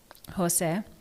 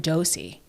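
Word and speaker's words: José: shout out to Josie Jose. Uh you got to stop. I got to stop. Thing is that like Jose is spelled J O S E, right? So it's not even dosy but somehow every single time I talk about Exactly.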